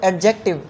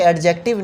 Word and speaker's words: adjective: हमारे यहाँ इसकी प्रोनाउंसिएशन बहुत ज़्यादा गलत होती है और वो हमारे यहाँ लोग कहते हैं इसको एडजेक्टिव, हालांकि एडजेक्टिव नहीं है, ये है एडजेक्टिव।